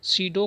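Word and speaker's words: pseudo: सीडो code होते हैं। इसे क्या कहते हैं? सीडो कोड होते हैं। पी यहाँ साइलेंट रहेगा दोस्तों।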